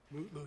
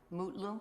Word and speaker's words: Mutlu: Is it Metloo or Mutloo or how do you pronounce his last name? Mutloo, your honor. Mutlu.